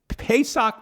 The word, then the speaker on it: Pesach: english term passover in the hebrew is pessoc pesach meaning spell let me spell it p is in paul e s a